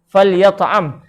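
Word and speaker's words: فليطعم: Kalimah falyat'am ni iaitu cara bacanya, huruf lam dibariskan mati, kemudian huruf ya dan huruf ain dibariskan dengan baris atas. Kita baca falyat'am.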